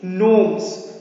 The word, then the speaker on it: gnomes: things are guarded by gnomes remember g is silent here we will not say that it is not gnomes no we will say it is gnomes so g will not